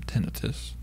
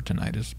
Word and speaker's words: tinnitus: The single most powerful predictor of negative outcomes from tinnitus or tinnitus, pronounced both ways, which leads even to suicidality.